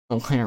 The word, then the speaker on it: Eau Claire: Line I choose Wisconsin and Eau Claire. Eau Claire rhymes with the word air, and I remember seeing the name of that city when I was driving through Wisconsin 2 years ago.